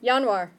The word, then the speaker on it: Januar: Okay, pronunciation is harder than the spelling. Okay. Try the first one. Januar.